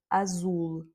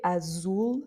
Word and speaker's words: azul: par exemple le mot azul, vous entendez Azul, c'est pas azul, c'est pas le c'est ou Azulou. C'est pas il est vraiment plus haut, plus dans le nez.